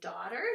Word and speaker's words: daughter: Like in daughter, that GH is silent.